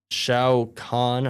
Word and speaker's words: Shao Kahn: And then new characters will be Johnny Cage, Shao Kahn, I believe is how it's pronounced.